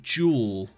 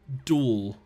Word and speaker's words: duel: like a Yu-Gi-Oh duel, he would say jewel, they like jeweled each other. And that seemed really weird to me because I've always said duel with a D rather than like a J, like pronounced with a J.